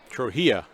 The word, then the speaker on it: Trujillo: Trujillo is how you pronounce his name.